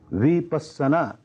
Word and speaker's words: विपश्यना: है कि विपक्ष चना यह इसका संस्कृत उच्चारण है विपश्यना या पाली उच्चारण है लेकिन जब यह